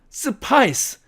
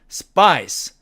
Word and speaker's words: spice: 이렇겐 에이즈의 이걸 갖다가 스파이스 또는 스파이스 또는 스파이시 이렇게 되면 안된다는 뜻이죠 그래서 정확한 발음은 스파이스 스파이스 스파이스 이렇게 되어야 된다는 얘기입니다 그래서 지금까지 모든 내용을